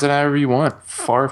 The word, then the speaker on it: Favre: Favre pronounces his name Favre.